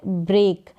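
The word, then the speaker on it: break: फिर है ब्रेक, अब यहाँ पर A करके EA का उच्चारण हो रहा है, तोड़ना, कोई भी चीज़ ब्रेक करना, तोड़ना।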